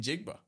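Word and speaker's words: Njigba: How do you pronounce his full name? JXN. Mm-hmm. Jackson Smith in Jigba.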